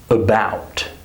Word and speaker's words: about: For example, when we have the word about, or the word occur. Do you hear that schwa sound? About, occur, adults. This sound happens when a syllable is unstressed and reduced.